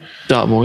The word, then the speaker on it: Dartmoor: I mean, we're talking about before about Dartmoor, you know, saying, I think it's pronounce it correctly? Dartmoor, yeah.